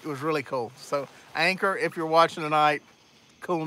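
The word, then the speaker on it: Anker: Anchor. A-N-K-E-R. It wasn't spelled the same way, but it sounded like. It was really cool. So, Anchor, if you're watching tonight, cool name of the week.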